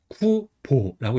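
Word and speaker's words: 久保: 그래서 성 같은 경우는 이제 올해 구하고 지키보가 합쳐진 한자예요. 그래서 구보라고 읽어요. 그래서 음독으로인 거 알 수 있죠.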